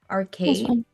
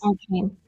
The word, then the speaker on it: Arcane: A lot of people told me that I should watch, sorry if I'm mispronouncing this. Arcade. Arcade. Arcade. Oh, yeah. Yeah. Arcade. Arcane.